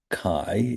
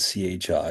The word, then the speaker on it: chi: So, first of all, uh quick reminder, this is the Greek letter chi, even though it's spelled c h i, it's pronounced as if it were spelled k i, I guess, or k a i.